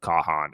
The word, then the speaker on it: Kahan: go with that I I say Kahan um and bini and V said pretty much you you were you were spot on there okay um yeah banging